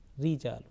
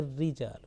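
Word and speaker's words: رجال: permanently thick and thin this raw mushad with a kasra or raw with shadda and kasra or without shadda but with kasra will always be pronounced with thin sound rijal a rijal not already okay is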